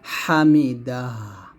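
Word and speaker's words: حمد: ওয়ালাকাল হামদ হামদ হামদ এই দালটা এখানে উচ্চারণ আসবে হামদু আছে থামলে হবে হামদ এরকম ভাবে রব্বানা ওয়ালাকাল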